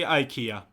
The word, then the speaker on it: IKEA: agree with him like say say ikea say ikea that's how you say it yeah if if i say yeah that's how you say it ikea right how do you say it yeah ikea yeah yeah and that's how i say it when i'm saying it in english also so okay and how he said it ikea that's how we say